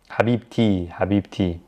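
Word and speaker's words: حبيبتي: the car of someone i pronounce the t when i'm connecting it to another word so in this case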